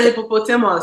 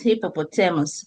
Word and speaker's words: hippopotamus: that's just too much hippopo what is the hippopus hippopotamus the hippopus is the is is is